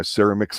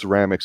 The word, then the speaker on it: ceramics: have a Chet this and that or my Ceramics class and she goes It's pronounced Ceramics he's like well you do listen or whatever